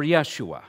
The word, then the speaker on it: Yeshua: heard this maybe not joshua can be pronounced in the hebrew yahushua or yeshua said in the greek e zeus in the english jesus our lord jesus christ